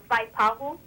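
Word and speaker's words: Waipahu: But it wouldn't be right to say, like, Vaipahu? You can. You can. People go look at you a little bit strange, but you're saying it right.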